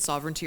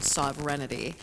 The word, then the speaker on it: sovereignty: I mean I mentioned sovereignty earlier and one of my very intelligent girlfriends for quite a while was pronouncing the word sovereignity which I loved.